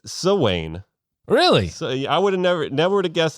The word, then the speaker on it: Samhain: never met the guy it's uh actually it's so Wayne really so yeah I would have never never would have guessed in 100 years it's like Rumpelstiltskin I would never like to pronounce this word Sam Hayne they have a lot of odd pronunciations the